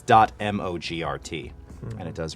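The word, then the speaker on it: mogrt: as templates inside of Premiere so it's dot mo GRT and it does rhyme with you over so what do you think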